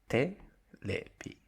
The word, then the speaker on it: テレビ: Next one, television. Japanese say terebi.